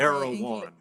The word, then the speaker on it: Erewhon: I'm not Erewhon, right? Is that the official Yes.